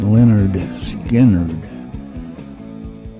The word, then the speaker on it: Lynyrd Skynyrd: down Monopoly in 1973 the one that's pronounced Leonard Skynyrd we're gonna do a